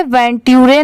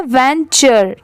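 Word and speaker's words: venture: इसे वेंटरे नहीं पढ़ेंगे। इसकी साउंड क्या है? वेंचर। ठीक है? टी की साउंड ट की नहीं आ रही है। च की यहां पर आ रही है। इसीलिए इसे क्या प्रोनाउंस करेंगे? वेंचर into the forest alone.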